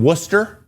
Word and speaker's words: Worcester: He was called up from Worcester. Yeah, that is how it's pronounced.